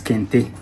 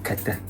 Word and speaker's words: kente: Sometimes I use kete from the background I am coming from, but generally it's known as kente, but the right pronunciation in my dialect is actually kete.